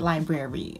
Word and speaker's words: library: think it's too much just pronounce it the way it's spelled library it's spelled library so say it library okay when i go